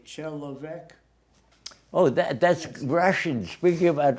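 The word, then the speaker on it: человек: And you remember how you used to say chelovek?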